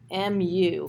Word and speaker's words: mu: So it's pronounced mu, mu. So if you're familiar with Pokemon, that's the pronunciation of it.